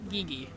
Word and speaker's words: Gigi: I call mine Gigi pronounced like the G part in oh like McGee so gige cute I wish I